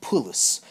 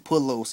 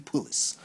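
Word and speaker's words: Pullos: to an interesting interview with um um Haley pulis and I actually figured out how to say her last name um she actress that plays Molly um Haley P her name is Haley pulis I been pronouncing pulos and pulos her name is Haley pulis but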